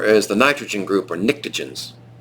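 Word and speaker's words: pnictogens: the nitrogen group or nicrogens starts with P the P is silent the nicrogens um nitrogen, phosphorus, arsenic, anammonium, and bismouth.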